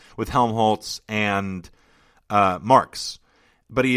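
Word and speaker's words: Helmholtz: um with uh will willhelm is that is no Helm Holtz gosh darn it keep getting his name wrong with Helm Holtz and uh marks but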